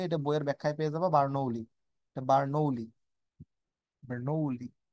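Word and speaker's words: Bernoulli: বার্নৌলি বার্নৌলি বার্নৌলি উচ্চারণটা এরকম বার্নৌলি গ্যাসের গতিতত্ত্ব অনুসারে অণুগুলো সংঘর্ষ অস্থিথাপক না স্থিতিস্থাপক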